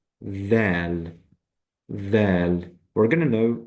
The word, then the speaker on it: د: So that means when we pronounce it, we will say dal, dal.